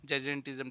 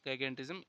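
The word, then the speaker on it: gigantism: अगर आपके जो है ग्रोथ हार्मोन एक्सेसिव होंगे तब होता है यह जजेंटिज्म। ठीक है? थोड़ा यहां प्रोनाउंसिएशन देख लेना। जगेंटिज्म यह जो है अगर आपके ग्रोथ हार्मोन ज्यादा होंगे तब होता है।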